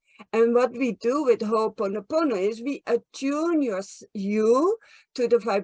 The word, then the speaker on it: Ho'oponopono: How do I pronounce that? Ho'oponopono. Ho'oponopono.